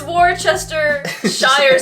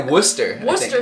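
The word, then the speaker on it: Worcestershire: it and say it worser sauce what what it's War Chester Shire sauce as most people in Canada say it although my friend who's British told me how to say it they say Worcester Worcester sauce yeah but it's cool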